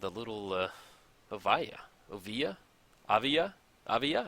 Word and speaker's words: Oviya: Oviya? I think Oviya is how you say it.